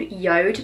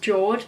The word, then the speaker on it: JORD: I have been collaborating with recently is called Yoda now I do this because it looks like it's pronounced George but it's Yoda I promise you so basically they sell the